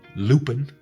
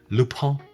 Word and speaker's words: Lupin: loop pump all right so it's spelled l-u-p-i-n the netflix show it's on netflix so go to netflix check out l-u-p-i-n lupine loophole did i do good